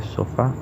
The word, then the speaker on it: sofá: con los ejemplos de sofá, donde vemos que el acento recae en la sílaba fa, o en canción, donde